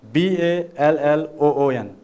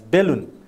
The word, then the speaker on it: balloon: Generally, you can find we non-native speakers, especially in Nepal, we pronounce this word as balloon. Is this right or wrong? See, how it is pronounced. I will tell you, I'll give you these examples, sounds, you know, consonant and vowel sounds later on. So it is pronounced as balloon. See, balloon.